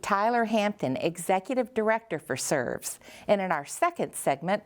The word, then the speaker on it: SRVS: Once called the Shelby Residential Vocational Services, this organization is now simply named SRVS, pronounced SERVS.